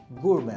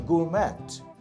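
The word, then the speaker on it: gourmet: aircraft এরপরের শব্দটা হচ্ছে গুরমে জি ও ইউ আর এম ই টি শব্দটার উচ্চারণ কি হবে গুরমে নট গুরমেট গুড়ে পার্সন হু লাভস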